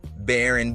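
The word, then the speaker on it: Barron: then there's his son baron baron rhymes with karen trump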